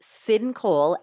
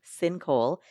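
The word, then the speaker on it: Syn Cole: A couple that I recommend, Sin Cole, S Y N C O L E, Sin Cole.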